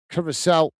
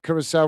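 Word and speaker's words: Curaçao: Matt is saying Curacao rhymes with Duracell, and Mr.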